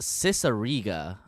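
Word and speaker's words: Cicierega: thought i knew it pretty well it's neil's cicerrega okay that's how you pronounce it but yeah um everybody knows neil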